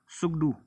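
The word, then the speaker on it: Tshogdu: इसी तरह से अगर हमसे पूछा जाए कि भूटान की पार्लियामेंट को हम क्या बोलते हैं तो उसका आंसर होगा सुगडू। ठीक है, टी साइलेंट है।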